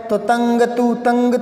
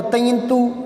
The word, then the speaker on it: तंतु: अंग लगाओ अंग तो तंग तू ऐसे नहीं आएगा, ये उच्चारण गलत हो गया। अणे लगाओ अणे तो तृण तू, ये भी उच्चारण से सही नहीं आ रहा। ये लगाओ तो तयंतु, ये भी सही नहीं आ रहा। तो तंतु, तंतु ने आता ने, समझ रहे हो ना आप बात को।